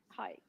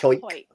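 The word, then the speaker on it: Hawick: Hike. H Howick, but it's it's it's pronounced Hike.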